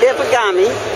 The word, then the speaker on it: Ikegami: Ikegami. And show us this camera and tell the ordinary person what it can do. Okay. This is a broadcast camera. This, of course, is the broadcasting show. And Ikegami is a manufacturer of broadcast cameras.